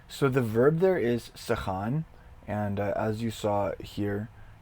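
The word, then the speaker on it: סכן: Okay, so the verb there is sechan. And as you saw here, it is spelled samech, kaf, nun, sechan.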